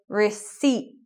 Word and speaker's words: receipt: shop they give you a receipt no P also I should mention